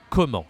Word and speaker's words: comment: So this is not very easy to say comment again because you see there is a T. We don't say the T.